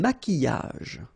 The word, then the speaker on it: maquillage: Un maquillage. Okay, so here, same rule. Q-U, but then U is not pronounced, so qui, and then y. Maquillage.